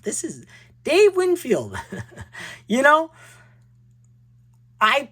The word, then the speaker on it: Winfield: When I was a kid, when I was an adult, before YouTube, I always call him Winfield, like Windfield. This is Dave Winfield.